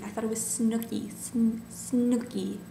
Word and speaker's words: Snooki: Snooki, not Schnooki.